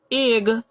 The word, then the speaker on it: egg: अच्छा, डबल जी है, तो यहाँ पे क्या होगा, एग, यहाँ डबल जी है इसलिए इसका ग हो गया, तो एग हो गया।